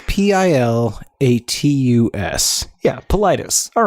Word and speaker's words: Pilatus: milli vanilli he met Fabrice Morvan and Roberts pilatus is that how you say his name yeah Isle itis that sounds right Politis it's PIL atus yeah Politis all right he founded that with fab and